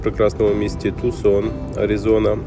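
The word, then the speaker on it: Tucson: вже в прекрасному місті Тусон Арізона До речі правильно вимовляти Саме так чому саме Так я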